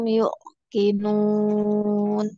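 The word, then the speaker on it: يوقنون: Wa bil akhirati hum yuqinun. Yu panjang. Yu- Yuqinun. Wa bil akhirati hum yuqinun.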